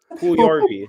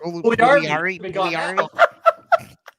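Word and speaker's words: Puljujärvi: Pugliarvi. Pugliarvi.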